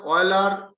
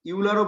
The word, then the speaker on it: Euler: নবনীন কিছু পাঠিয়েছে নিশ্চয়ই, প্রোনাউন্সিয়েশন অয়েলার ইউলারও বলে বাবু, আমরা ছোটবেলায় উফ, ইউলার ওকে একটু বলতাম। থামতে বলুন না, এখানে কি রিসার্চ হচ্ছে নাকি? আচ্ছা, প্রোনাউন্সিয়েশন ইউলার অয়েলার, অয়েলারও বলে, আমরা অয়েলারই বলি।